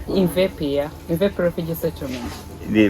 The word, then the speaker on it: Imvepe: Imvepe? Imvepe, yeah.